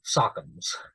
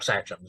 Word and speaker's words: sachem: Chiefs were known as sachems or sachems. I've heard it pronounced both ways in Eastern woodland cultures.